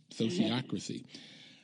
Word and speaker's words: sociocracy: thank you and I also need you to pronounce s o c i o c r a c y sociocracy sociocracy okay that's it you got itcy